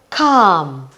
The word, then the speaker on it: calm: You don't hear the L.